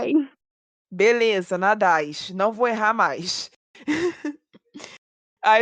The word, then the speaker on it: Nadez: É Nadis que se pronuncia, mas nem todo mundo acerta. Tá tudo bem. Nada. Beleza. Nadais.